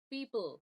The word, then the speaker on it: people: back uh for example we have the word people we want to go from the P straight into the dark sound where the tongue is pulling back not a because uh